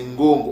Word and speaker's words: Ngongo: Ngongo veut dire montagne c'est pas Gog mais c'est Ngongo on peut dire avec